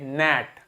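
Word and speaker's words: gnat: बाद एन लिखा है तो जी को प्रोनाउंस नहीं करेंगे क्या बोलेंगे नेट क्या बोलेंगे नेट ठीक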